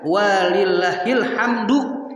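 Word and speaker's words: وَلِلَّهِ الْحَمْدُ: Walillahil hamdu, bukan hamdi, bukan. Kenapa hamdu jadi mubtada muakhar, lillahi khobar muqaddam. Tuh gramatikal dalam bahasa Arabnya begitu tuh.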